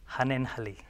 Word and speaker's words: Hannenhalli: Hanenhalli.